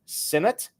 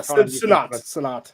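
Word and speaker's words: Sinnott: on to Kansas State Ben sinate am I doing that right Chan I sonat sonat Ben sonat okay so I did not do the pronunciation right okay so Ben sonat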